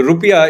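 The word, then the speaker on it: rupiah: Garuda its currency is rupia in fact the rupia is the correct pronunciation of the term rather than the term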